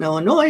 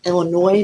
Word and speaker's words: Illinois: it's too different but i've learned to pronounce it illinois not illinois like people in missouri do because for some reason they had an s even though it's silent anyway oh do you